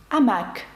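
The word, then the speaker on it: hamac: пишеться воно з аш Чи слово гамак амак французькою аш пишеться але не вимовляється До речі письменника французького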